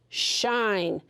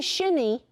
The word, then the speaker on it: shine: And when I put that silent E there, now the I says I, sh, ein, shine. It doesn't say shinny. It's not that. Remember, the E doesn't make any sound at all.